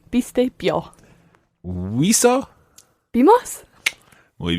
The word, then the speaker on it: viste: Biste. Okay, so we've got bees and now we've got beasties. Be, biste.